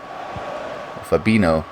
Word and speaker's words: Fabinho: their ideas man i really do ariana fabino that's how you pronounce his name arnold now coming forward dodgy's